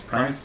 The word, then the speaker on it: Primus: ever heard of them they're called the primus prime is how you pronounce that they suck yeah they